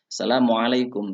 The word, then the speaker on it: Assalamualaikum: Dalam pengucapan Assalamualaikum, ain itu juga harus jelas anak-anakku semuanya. Assalamualaikum ya.